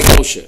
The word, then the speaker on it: Gaucher: G-A-U-C-H-E-R-A-D. Se escreve Gaucher. Se escreve Gaucher, tá? Mas se fala Gaucher, é em francês, né? Em francês.